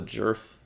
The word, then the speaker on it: Djerf: her name is Matilda jerf you see what I'm saying the D is silent the D is the